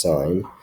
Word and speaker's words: sin: as s i n not sin but still pronounced sign of some angle we could call the angle